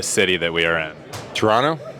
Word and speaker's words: Toronto: Shout out Shane Bieber's wife for letting him know that you do not pronounce the second T.